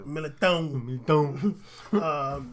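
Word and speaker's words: Militão: Carvajal, Ramos, Varane, Nacho, Marcelo, Odriozola, Mendy, and Militao. Their midfield consists... You gotta say it like the way you're supposed to. Militao.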